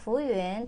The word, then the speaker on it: 服务员: 그리고 마지막에는 유엔 발음은 실제로 되게 하기가 힘들어요. 사실은 유엔이 아니라 유엔, 유엔인데요. 앞에 후우를 연달아서 부우엔까지 하려면 힘들긴 하거든요. 하실 수 있어요. 부우엔, 부우엔, 유엔 발음을 빨리 하시면 돼요.